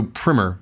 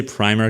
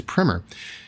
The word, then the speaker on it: primer: okay well Christopher writes Craig's potato Primmer by the way that's how you pronounce that word did you know that I say primer cuz I like it to be priming a car but its primer by the way somebody